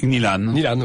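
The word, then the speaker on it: Gnjilane: Vous évoquez votre arrivée, alors j'arrive pas à bien prononcer la ville, à Gnilane, comment on dit ? Gnilane, c'est ça.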